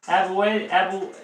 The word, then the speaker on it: Abuela: Abuela.